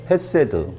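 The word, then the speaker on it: חֶסֶד: 헤세드. 그렇죠. 헤세드. 세로 이렇게 발음도 하죠.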